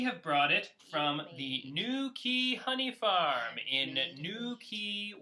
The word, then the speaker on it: New Quay: We have brought it from the New Quay Honey Farm in New Quay, Wales. New Quay, Wales. How do you spell it? Like Nookie, like Nookie Wales.